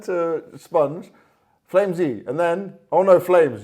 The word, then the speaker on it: FlameZ: you say your name Flames or flimsy and I'm like well in Israel everybody it's like flimsy that's the origin flimsy and then but you